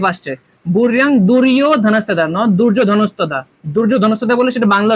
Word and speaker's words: দুর্যোধন: বাক্যের মাঝখানে থাকবে দৃষ্টতু পান্ডেনিকাম দুর্যোধন আবার এখানে উচ্চারণ হয়েছে দুর্যোধন নট দুর্যোধন দুর্যোধন কখন হবে যখন আমরা বাংলা উচ্চারণ করব